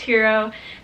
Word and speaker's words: gyro: There was a really good hero place. Yeah, it looks like gyro, but it's pronounced hero place in Oya.